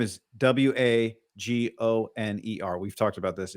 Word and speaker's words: Wagoner: know your name is Wagoner. We've talked about this. It's pronounced Wagner. There's also, I don't know if this guy spells it Wagner or says it Wagner or Wagoner.